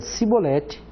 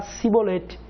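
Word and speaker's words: שִׁבֹּלֶת: Alguns pronunciavam Shin, fazendo chiado, e outras pronunciavam Sim. Então aqueles que vinham de Efraim não conseguiam falar Sibolete, falavam Shibolete. E quando falavam Shibolete, na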